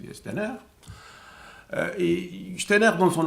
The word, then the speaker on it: Steiner: ironisaient un peu sur George Steiner ou Steiner comme le prononcit son nom lui il aimait le proncer la française Stiner euh et Steiner dans